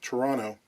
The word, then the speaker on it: Toronto: Arthur Hensel immigrated to Toronto, properly pronounced Toronto, from Germany in the early 1930s.